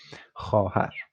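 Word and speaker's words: خواهر: which is pleasant, and its combination with khe and a is it's not pronounced, which would be khahar. So the ve is not pronounced.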